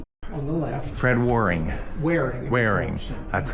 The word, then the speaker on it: Waring: So he's probably Fred Warning.